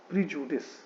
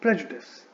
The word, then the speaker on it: prejudice: ठीक है, इस वर्ड के प्रोनाउंसिएशन में आपको ध्यान रखना है that it should not be pronounced as प्रीजुडिस.